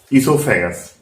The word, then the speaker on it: oesophagus: वो साइलेंस है तो इसका प्रोनाउंसिएशन क्या होगा, ईसोफेगस।